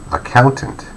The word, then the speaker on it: accountant: And the last one is a little bit different. It has the main stress in the middle. Accountant, accountant, accountant, accountant, accountant, accountant.